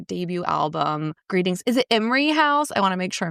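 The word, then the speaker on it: Imrie House: Is it Emery House? I want to make sure I'm pronouncing this correctly all these years later. Yeah, Emery House.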